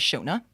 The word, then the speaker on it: Shauna: So, Shauna. Shauna. Yeah. But let's not get into this. We've had an argument with our parents, okay, all her life. It's pronounced Shona.